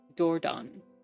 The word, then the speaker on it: Dordogne: Doron. Okay, good. I was pronouncing it wrong and I learned something.